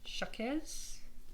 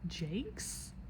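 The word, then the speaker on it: Jacques: Apparently it's Brian Jakes. And it makes sense only because he's British, so he pronounces it Jakes. That's how he says it.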